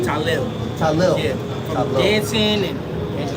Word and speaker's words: Tylil: Talil.